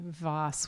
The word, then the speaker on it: Vohs: My last name is actually Vohs. We ignore how it's spelled.